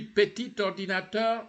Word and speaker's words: petit ordinateur: We remember we talked about petit. When the word adjective, petit, is isolated, petit, you don't pronounce the T. But here you say petit ordinateur. You join. Petit ordinateur.